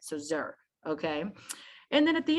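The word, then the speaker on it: zir: letter z like like h i r is typically pronounced the word like here but put a z in front of it so zer okay and then at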